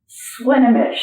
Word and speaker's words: Swinomish: Swinomish. Okay. Swinomish. And do you want to spell it?